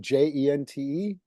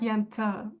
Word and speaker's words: Jente: Was it Jente? Yeah, Was it Yente? almost. It's more like Yenta, but you Yenta.